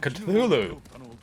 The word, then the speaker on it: Cthulhu: Oh, you mean Cthulhu?